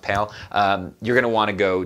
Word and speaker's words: PAL: uses the PAL system the P al I think it's just pronounced pale you're gonna want to